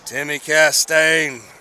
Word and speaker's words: Timmy Castine: Timmy Castine, as Chad Greer told me that is to be pronounced.